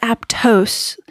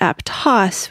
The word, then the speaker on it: Aptos: And it it is not apttose, which is the Spanish pronunciation, but Aptos, which is the American Indian pronunciation.